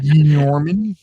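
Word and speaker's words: gnomon: But prior to that, earlier civilizations 5,3500 B.CE used a device called the Norman, but it's got a silent G at the beginning. The Gorman Gorman Norman, which was a stick that cast a shadow.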